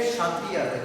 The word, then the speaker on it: Kshatriya: The second one we have Kshatriya. The K is silent here.